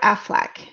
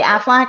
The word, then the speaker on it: Aflac: you yeah yeah actually the way i say aflac everybody goes oh my gosh you say it like a duck so and i never